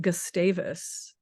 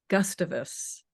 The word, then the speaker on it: Gustavus: t a Vu and locally it's pronounced gustavis but some people might say Gustavus and so that was